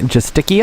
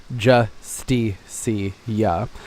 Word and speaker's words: Justicia: oh I have a habit of calling it in too sticky oh I think it's more fun to say